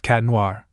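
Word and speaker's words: Chat Noir: Adrien/Chadenoir, pronounced Cat Noir.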